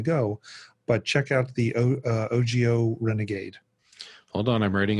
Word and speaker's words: Ogio: It might be a little big depending on how big you want to go, but check out the Ogio Renegade.